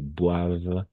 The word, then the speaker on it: boivent: Comme ENT à la fin, on ne prononce pas. Ici, ça va. Tu as bien prononcé boivent.